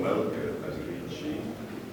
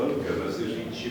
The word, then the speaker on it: Velké Meziříčí: a v tomto roce jsem ještě vyslovoval Melke Medříčí, protože jsem nevěděl, co je Medříč. V roce 1991 jsem se to dozvěděl a od roku 1992 to říkám a Velké Meziříčí mě už najde na jazyk.